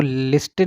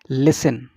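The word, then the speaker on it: listen: ठीक है, talk less, देखिए यहाँ पर हम एल साइलेंट होगा, इट is talk less and लिसन, इसको लिस्टन नहीं बोलेंगे, इट इज लिसन, लिसन more, this will make us वाइज, वाइज।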